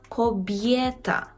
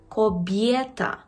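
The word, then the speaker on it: kobieta: «Коб'єта». «Коб'єта». Так, жінка. «Коб'єта». Тут впевнено, чітко вимовляємо «є». «Коб'єта».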